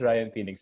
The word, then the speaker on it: Ryan Fenix: say it correctly ryan no no it's ryan phoenix is correct but thank you but